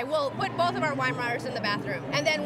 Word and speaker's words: Weimaraner: I mean, I love, how do you say it, Weimaraner? Weimaraner.